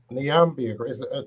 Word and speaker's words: Niambi: Niambi, did I pronounce it correctly?